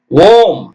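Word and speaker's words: womb: எல் யூ எம் பிளம் ஓம் ஓம்னா கருப்பை அம்மா வயித்துல இருந்து பிறந்தீங்களா கருப்பை ஓ இம் ஓம் டபள்யூ ஓ எம் பி எழுதணும் ஆனா உச்சரிக்க கூடாது டம் டி எம் பி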